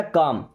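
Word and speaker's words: calm: काम down, यहाँ पे L silent है ना, काम, काम का मतलब शांत होना, डाउन का मतलब नीचे।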